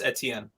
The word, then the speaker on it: Etienne: Ian, I need you to pronounce. That's Travis Etienne.